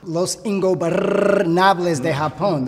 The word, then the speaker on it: Los Ingobernables de Japón: Los Ingobernables de Japón, that's how you say it, Mark, have had a heck of a 2017.